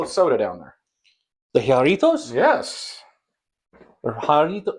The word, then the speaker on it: Jarritos: The Jarritos? Yes. Or Jarrito? How do you say that? Jarritos, I think.